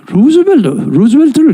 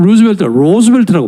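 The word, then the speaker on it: Roosevelt: 근데 이게 루즈벨트를 잘 모르고 하는 얘기예요. 미국 사람은 로즈벨트라고 발음합니다. R-O-O, 프랭클린 로즈벨트 이렇게 많이 합니다.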